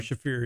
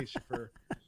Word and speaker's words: Shaffir: gonna stop by and say his name Ari Shaffir yeah I know eyes but I always say Schieffer Andrew